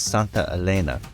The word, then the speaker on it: Santa Elena: All right, we're at the Santa Elena Kenya Trail. I'll have the narrator interrupt me if I mispronounce that. He's close, but it's Santa Elena.